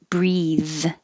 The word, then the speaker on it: breathe: And 59, breathe is the verb, and it has the vowel e as in he. Breathe in, breathe out, and it has the voiced th, breathe.